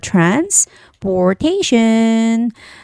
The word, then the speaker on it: transportation: time and there's the transportation destination and information okay anytime when a word has Tio n ending the stress goes on the syllable in front of t n so location trans